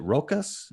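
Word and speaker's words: Rokas: uh another martial artist named uh is it rokus is that how you pronounce uh yeah rocus over it yeah and rocas has a really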